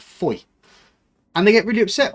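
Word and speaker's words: Fowey: Apart from, I mean, there's a place called it's spelled Foway, which you'd think would be Foey, but it's actually called Foy, and they get really upset with people for not pronouncing it properly.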